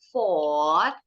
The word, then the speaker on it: fought: Kedua bacanya fought. Ketiga juga sama, fought. Fought. Jadi OU bunyinya O, GH-nya silent. Bacanya, nah FO sama T ancak.